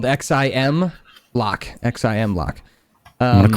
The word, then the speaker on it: Ximlock: It's spelled Xim Lock.